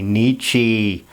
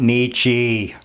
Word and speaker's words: Nietzsche: I'm sorry, I'm using the Germanic pronunciation because that's what I grew up with, I guess. So Americans very often say Nietzsche.